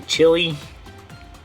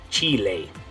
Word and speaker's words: Chile: a Spanish-speaking country uh in English we would say chili but when you're going to pronounce that in Spanish is Chile okay so the CH does the same thing in both languages but it's those vowels the I and the E make it sound different in Spanish okay so